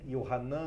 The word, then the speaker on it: Yohan: do evangelho de yohan yohan é a pronúncia em hebraico do nome de joão no capítulo 8 jesus